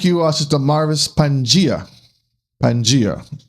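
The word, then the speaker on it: Pangaea: Pangia how how it's pronounced.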